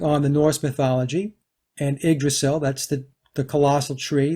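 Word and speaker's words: Yggdrasil: uh it's pronounced the igdrasil but it's spelled y g g d r a s i l but pronounced IG the Y is an i igdrasil is the was the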